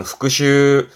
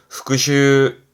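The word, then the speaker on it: 復習: 발음은 오후그 오후 그렇죠 여러분 많이 하시는 복습 제가 강조하죠 복습하시는 거 발음은 후크슈 후크슈 앞에 한자는 숫자예요.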